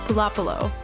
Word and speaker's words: Pulopulo: how cool "Pulopulo" sounded I wanted her name to be pronounced "Pula-pulo" so I just always stuck with that despite the way it's spelled.